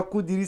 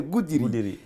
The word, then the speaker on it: Goudiri: Alors, je prononce mal. C'est pas Goudiri, c'est Goudiri.